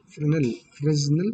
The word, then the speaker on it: Fresnel: Fresnel, here S is a silent, so you have to pronounce this as Fresnel.